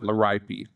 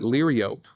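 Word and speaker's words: Liriope: But the one plant name that I'm very serious about is laripi. I call it laripi and we have a lot of students that call it liop especially our northern students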